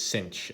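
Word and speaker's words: sinh: is the hyperbolic sine of x which is cinch of x for short and so the reason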